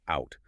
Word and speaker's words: out: Out was pronounced oot.